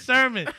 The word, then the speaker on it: Sermon: No, I said Sherman. He said, nigga, it's Sermon.